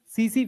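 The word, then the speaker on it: tsetse: सीसी फ्लाई इसी की होती है। टी एस ई टी एस T silent है उसमें हैं किसी ने सुना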